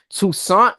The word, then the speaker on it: Toussaint: Toussaint was freezing up.